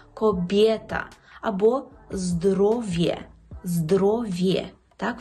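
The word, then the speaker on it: kobieta: «Коб'єта». «Коб'єта». Так, жінка. «Коб'єта». Тут впевнено, чітко вимовляємо «є». «Коб'єта».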